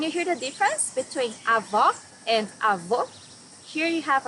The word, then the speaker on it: avó: Avó, grandmother. Here you need to hear the sound of the last O in the syllable. It should be an open O as we say in Portuguese. Avó.